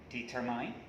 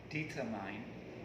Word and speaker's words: determine: guess so okay so if you still think that this word is pronounced like what you pronounce just now determined so that means it's a big mistake okay it's a big study the correct one is determine determine okay see what i mean